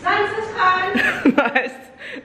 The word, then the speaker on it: Zaanse Schans: How do you pronounce it, Winky? It's Zaanse Schans.